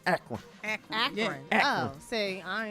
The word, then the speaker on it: Akron: Who said it ain't no promise in Akron, Ohio? What? Well, Akron. Well, if it wasn't before, guess what? You gotta say, see, I'm from the South. You can't say Akron. You gotta say Akron.